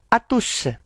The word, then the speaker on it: à tous: Kemudian di bawahnya ada atus. O dibaca U. Tidak perlu monyong.